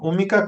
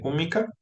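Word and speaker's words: Húmica: ahí en redes sociales ponen umica con acento en la u hu m i c a este umica eh Y ahí ya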